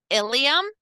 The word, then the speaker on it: ilium: very confusing at times ilium and ilum these are pronounced the same i l IU M